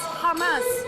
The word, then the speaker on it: Hamas: No, it's Hamas. Hamas with a ha. It's a different Arabic letter than the ha.